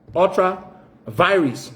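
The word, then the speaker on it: ultra vires: The Supreme Court said very clearly in its ruling, it used a certain Latin phrase called, pronounced as ultra virus. The Liberian people can say ultra virus. It's ultra virus.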